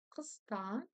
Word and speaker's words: қыста: Итак, кыста, здесь ничего сложного. Букву К вы читать умеете, букву вы помните, что она произносится у нас. Коротко и твердо, ударение на второй слог.